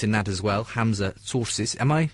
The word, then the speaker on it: Tzortzis: uh helping us in that as well Hamza sources am I pronouncing that about correctly Hamza don't yes you